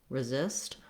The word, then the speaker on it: resist: It doesn't matter too much if I were to say resist with a tense E, as long as my stress is on the zist syllable and I'm very short on that first syllable. But it's better to use a reduced vowel, so if it helps you to think of it as a schwa, like resist, or if you can naturally do an I, resist, you can do that as well.